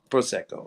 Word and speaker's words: Prosecco: the wrong syllable and Prosecco how do you pronounce that that goes with it Prosecco okay and a dash of um seltzer water